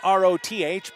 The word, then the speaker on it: Roth: Spelled R-O-T-H, pronounced Roth down here.